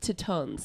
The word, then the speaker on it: Tetons: to not to correct your French but it's pronounced to tons thank you I legit don't know what a